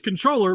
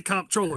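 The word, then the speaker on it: comptroller: The real way to say it is controller, but everyone's used to comproller.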